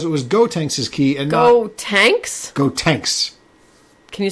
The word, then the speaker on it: Gotenks: And so they didn't recognize the key because it was Gotenks' key and Gotenks? Gotenks. Can you spell that for me? Gotenks. Like Goten, and then the end of Trunks.